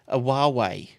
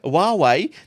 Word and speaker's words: Huawei: a slight regret, that he didn't buy a Huawei, the new Huawei, world's slimmest smartphone. Did you got any? Oh my god! You can play with it. Any regrets, Shane? Not that one. All right, so the Huawei, now that's apparently how you pronounce it.